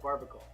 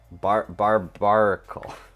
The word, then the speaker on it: Barbaracle: I call it Barbacle. Barbaracle. Barbaracle? That's what it's spelled like.